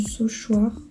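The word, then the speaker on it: Saulchoir: Frère Michel Albaric, qui était aussi le bibliothécaire du Sauchoir, ça se prononce comme ça, et qui avait fait du coup un livre sur l'histoire des micelles, et c'était très intéressant.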